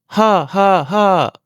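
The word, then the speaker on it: ห้า: taille, ça se prononce ha. Amis francophone, attention à bien prononcer le H. Il faut souffler pour le ton descendant, le ton de la voix par des aigus et descend.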